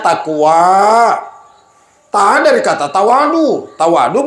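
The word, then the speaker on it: تقوى: Yar takwa apa hurufuna ta qof wau alif bacanya takwa ta dari kata tawadu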